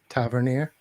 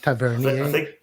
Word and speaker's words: Tavernier: a different way but I believe it's Tavernier not Tavernier I think the correct